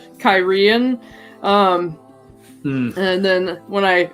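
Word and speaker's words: Cairhien: it it was always carheen and carhenians i always pronounced it with this with the emphasis on the first syllable so it was always or no on sex so it's always kyren um and then when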